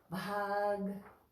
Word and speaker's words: Bhāg: So Bianca asked yesterday in Bhāg if we pronounce the G, and yes we do. Bhāg Bhavet. The is a little slighter though.